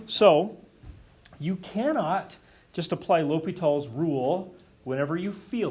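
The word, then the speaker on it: L'Hôpital: this guy's name ever how to pronounce his name l'hopital yes the hospital for the French speakers in the room right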